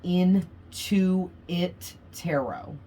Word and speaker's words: Into It Tarot: Okay, I always pronounce that really slow because literally it's in the number 2, it tarot. Okay, Into It Tarot. And when you say it fast, into it, it sounds like you're saying something other than how it's written.